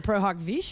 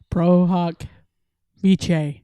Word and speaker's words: pro hac vice: got the Latin pronunciation I got the guy and he says prohawk vich but he's Italian so